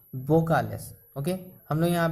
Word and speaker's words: vocales: Okay, लेकिन Spanish में हम लोग इसे वो नहीं, वो उच्चारण बोलते हैं। लाइक इंग्लिश के B वाला बी फॉर बॉय वाला बी, हम लोग जो B फॉर बॉय बोलते हैं वैसे बी, वोकालेस।